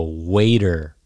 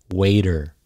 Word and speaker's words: waiter: The T is a D sound. So waiter, waiter, waiter.